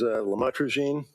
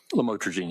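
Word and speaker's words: lamotrigine: drugs about the the lamel otherwise known as lamatroine. Did I pronounce that right? Lamotraine.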